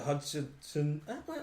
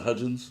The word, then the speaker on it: Hudgens: people like Selena Gomez, um, Hilary Duff, Vanessa Hudson. Vanessa Hudgens. Yeah, I always have a hard time pronounce her last name.